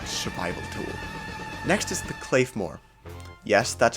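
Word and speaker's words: Claidheamh Mòr: a really good survival tool next is the cayore yes that's how you pronounce it and now we're beginning to get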